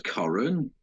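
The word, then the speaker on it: Coren: Victoria Corran Mitchell.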